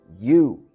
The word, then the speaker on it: you: O você em inglês a gente vai falar you, isso aí. Y o U que se pronuncia. Você ignora o O que tem entre o Y e o U, ok?